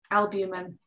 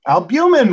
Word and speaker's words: albumin: Albumin. Albumin rhymes with cumin.